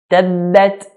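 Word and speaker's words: تبت: Listen to how every single word is pronounced. Bismillahir Rahmanir Rahim. Tabbat, not tabbat.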